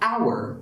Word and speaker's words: hour: is etc etc but if the h is silent we need to use an now there are a